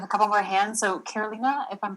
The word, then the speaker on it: Carolina: have a comment um i am a latina and my name is pronounced carolina you said it well becky um so i